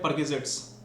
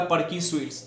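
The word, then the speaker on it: perquisites: करते हो कंपनी से, उसको बोलते हैं परक्यूजिट्स। बट कोई बोला परकी स्वीट्स, तो नहीं, ऐसे प्रोनाउंसिएशंस गड़बड़ा जाएगा।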